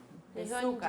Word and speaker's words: desu ka: Nihonji, Nihonji, Nihonjin, Desuka. Nihonjin desu ka? La U no la decimos. Ajá. Muy suave. Nihonjin desu ka? Nihonjin desu ka? Ajá. Nihonjin desu ka?